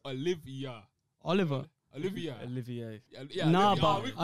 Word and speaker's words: Olivier: It's not Oliver. It's Olivia.